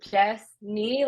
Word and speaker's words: Jessny: I always say like just say Jess knee like your knee I just point but